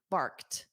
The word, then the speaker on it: barked: And notice that pronunciation of barked. So it ends on a soft t. Bked.